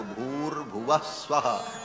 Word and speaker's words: भूर्भुवः स्वः: विसर्ग को र हो करके और फिर वो र ऊपर चला जाता है तो भूर्भुवः स्वः ऐसा उच्चारण होता है।